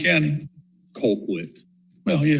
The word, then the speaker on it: Colquitt: In Colquitt County? Colquitt. Well, yeah, it's Colquitt. That's it. That's Colquitt, yeah. That don't make sense. That's how they pronounce it, is Colquitt County.